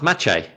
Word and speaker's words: Maciej: And when he speaks what to do you mean it's spelt Masij? Exactly. How are you spelling that? Exactly. Maceij. That's Maciej.